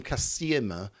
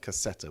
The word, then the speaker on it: cassetta: I've been calling them cassima, which turns out that you're actually supposed to pronounce it cassetta, which makes a bit more sense.